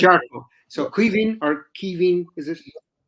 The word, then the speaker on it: Caoimhín: Caoimhín or Caoimhín, is it? Caoimhín, yeah, no, because my brother's Kevin and Aye. we'd say Caoimhín down here, it's a big guttural, C.